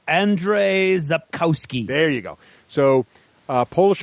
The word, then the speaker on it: Andrzej Sapkowski: It's Andrzej Sapkowski.